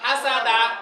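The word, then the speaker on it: حَسَدَ: দাল জবর দা দাল জবরদা হাসাদা হাসাদা কিদা হাসাদা সবাই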